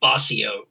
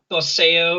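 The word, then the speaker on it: Boseo: It's just Bossio. Now, you might be like, oh, it's Bosseo or Bozio or whatever. You pronounce it how you want. I was 12 and I was like, I want to make it a word and I'm going to call it Bossio, B-O-S-E-O.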